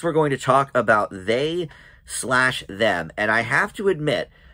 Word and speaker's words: They/Them: but i read that the way you pronounce this movie is they slash them and it's a slasher